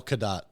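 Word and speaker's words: Cadott: c a d o t t Kat oh kadat kadat kadat Wisconsin yeah I'm horrible at these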